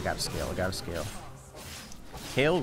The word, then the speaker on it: Kayle: scale I gotta scale kale rhymes with scale yeah what's scarier a